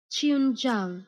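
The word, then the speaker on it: qianzhuang: the okay it's a it's two words Chun Jang China Chun Jang China but the it's not j i NG it's z h u Ng okay I can't use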